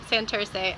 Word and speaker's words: Santurce: say it but that's how you say it Santurce sa NT you aren't Cee and we are